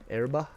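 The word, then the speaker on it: Oerba: to to get to erba that's how you say that or that's at least how the uh the characters pronounce it now that looks like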